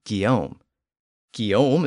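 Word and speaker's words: Guillaume: the names William and Gom keom is the traditional French version with the G sound and William is obviously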